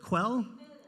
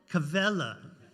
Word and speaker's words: Quelle: I did not pronounce that correctly. What is it? Quelle? Quelle. Ask the expert. That's what we all should do. Quelle.